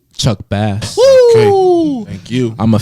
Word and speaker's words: Chuck Bass: name, it is pronounced. Chuck Bass.